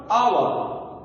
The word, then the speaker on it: hour: I will come after our. The pronunciation of H is silent here. That means H is silent letter.